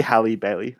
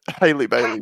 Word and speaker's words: Halle Bailey: would you pronounce the E in that? That'd be Halle Bailey, I reckon. Oh, Haley Bailey. Haley Bailey was better.